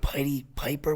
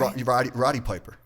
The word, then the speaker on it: Roddy Piper: And I remember those guys like Piety Piper. Was that his name? Am I saying it right? Roddy Piper. Roddy Piper, yeah.